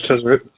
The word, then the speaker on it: Tezzeret: I see on the post you had Tezzeret. Is that how you pronounce his name? Exactly. Yes, Yeah, that was Tezzeret.